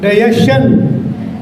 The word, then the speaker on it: digestion: Shan or chan? Shan. So you listen people speaking. Digestion. It's a digestion. Just like question. This is not shan but chan.